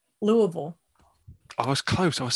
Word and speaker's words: Louisville: uh now i know how to say this louisville louisville i was close i was so close i'll